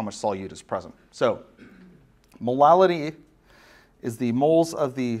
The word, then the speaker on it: molality: it's hard to say and that's molality and I will continue to say it like that to try and differentiate it from molarity because molality and molarity sound way too similar especially if you've never heard those words before so molality is